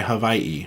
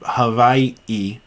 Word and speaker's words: Hawaii: Nellie says, I say K, not key, since people mispronounce my Hawaii. Why do they... Hawaii. So K it is, no key.